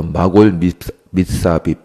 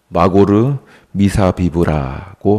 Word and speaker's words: 마고르 미사비브: 너희 이름은 이제부터 바수훌이 아니라 이제부터 마골 미사빕, 정확히 발음하면 마고르 미사비브라고 하셨다고 말합니다.